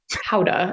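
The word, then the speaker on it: Gouda: I always say like I'm American I say guda but Howa is like I mean a Dutch person would say that's a terrible accent but yeah it's Howa is the more like the correct pronunciation but yes I grew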